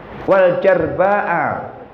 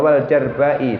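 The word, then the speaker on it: والجرباءِ: Wal jarba'a, binatang, bukan wal jarba'a, bacanya wal jarba'i. Tadi kal auroi wal amyai wal jarba'i, itu dibacanya wal jarba'i.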